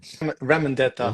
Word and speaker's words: Ramondetta: Now, is it Ramondetta? Is that Yeah, how you say it? Ramondetta.